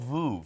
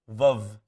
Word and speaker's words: Veuve: I've been saying it wrong. All of my friends, we call it Vouv. Yeah. It's not called Vouv. We can't call it Vouv. How do we say it? Veuve Clicquot. Veuve.